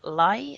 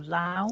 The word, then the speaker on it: Lai: And the chairman, Chinese entrepreneur, I believe it's pronounced Goshan Lai, is it? Or Lao? I presume. LAI. Good job, Danny's not here, isn't it?